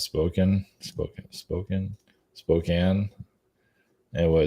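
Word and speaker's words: Spokane: we have this I don't know how to pronounce spoken spoken spoken Spokan anyway it's a city in uh Washington Spokan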